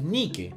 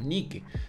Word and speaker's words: Nike: porque por último ni siquiera es nike es ni que porque la palabra ni que es una diosa griega y en grecia no se pronuncia en inglés es ni qué pero bueno porque toda mi ropa es nike